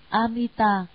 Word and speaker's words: Amita: Chữ A-di-đà, nguyên tiếng Ấn Độ đọc là Amita, dịch ra chữ Hán là vô lượng, tức là nhiều nghĩa, chẳng thể nào nói hết được.